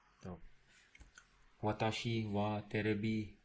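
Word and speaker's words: テレビ: TV is terebi. You don't pronounce the T with a very hard T sound. It's soft. So te. It's terebi.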